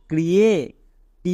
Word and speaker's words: create: ক্রিয়ে। টি এর জন্য টো, মানে ক্রিয়েট, তাহলে কি দাঁড়ালো? CREATE ক্রিয়েট। শেষে আছে, এই ইটা সাইলেন্ট, উচ্চারণ করার দরকার নেই।